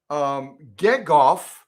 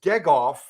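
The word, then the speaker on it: Gegauf: But I believe it's Gegoff. Susan and I watched a little clip on YouTube last night talking about the Bernina history, and that's how they pronounced it, Frederick Gegoff.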